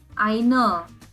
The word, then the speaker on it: eine: as ions but here there is an e at the end so we have to pronounce it as einer and million is million